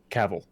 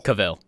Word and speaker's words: Cavill: I think his name's pronounced Cavill, like travel. Cavill. I think it's Cavill.